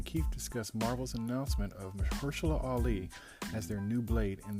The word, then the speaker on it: Mahershala Ali: Yeah, Mahershala Ali.